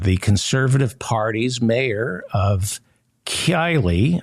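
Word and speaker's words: Keighley: conservative party's mayor of Kylie I think it's pronounced Kylie in West Yorkshire has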